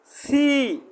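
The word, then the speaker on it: 七: জি না, সি সি সি। উচ্চারণ তোমারটা ক্লিয়ার আসতেছে না, তোমার উচ্চারণটা আরও ভালো করতে হবে, উচ্চারণের সঠিক উচ্চারণটা বলতে হবে।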